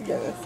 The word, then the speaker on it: Guinness: Yeah, it's Guinness.